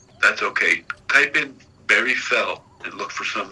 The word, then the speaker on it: Fell: It's Barry Fell. Fell? Yeah, fell, as in you just fell.